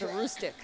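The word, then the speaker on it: Aroostook: Every year, the league name that I always look forward to is a Roostic.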